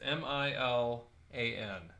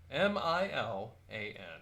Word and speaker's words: Milan: that's near us it's m-i-l-a-n m-i-l-a-n yeah like the town Milan no it's pronounced Milan my land if I can get